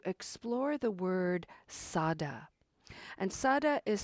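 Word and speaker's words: saddha: which is to explore the word Sada and Sada is spelled s a d d h a it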